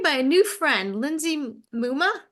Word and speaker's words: Mumma: a new friend Lindsay Muma rhymes with Puma a chiropractor and homeschooling